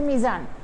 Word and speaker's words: المیزان: بھی اسے المیزان ہے، جبکہ میم جو ہے وہ حروف قمریہ میں سے ہے، حروف قمریہ میں آنے کی وجہ سے اس کے پہلے جو الف لام آیا ہے اسے پڑھا نہیں جائے گا، تو یہاں پر اسے جو پڑھا جائے گا، لکھا جائے گا اسی طرح، لیکن پڑھا جائے گا اسے میزان، اور جبکہ میزان کے